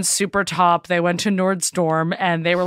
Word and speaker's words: Nordstrom: How do you pronounce it? Nordstrom. I guess I really kind of went in there with it. It's Nordstrom's.